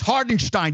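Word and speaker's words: Hartenstein: It's Hardenstein, you fucking idiot. You're getting paid $10 million a year. Learn how to fucking pronounce a fucking name, you fucking idiot.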